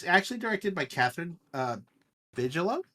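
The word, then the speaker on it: Bigelow: So, Zero Dark 30 is basically uh it's actually directed by Katherine uh Vigilo. Bigalow.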